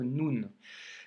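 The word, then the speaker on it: نون: Le Noun nous donne le son N que tu as d'ailleurs en français. Donc là, pour le coup, pour la prononciation, tu ne seras pas perdu. Et c'est le son N que tu retrouves dans novembre, par exemple. Tu vois la première lettre, novembre, ben c'est ce son-là, ok?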